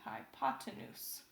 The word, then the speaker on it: hypotenuse: whole bunch of fun saying hypotenuse and not hippopotamus or hi pot to moose or anything but hypotenuse read it as it's spelled there that is the longest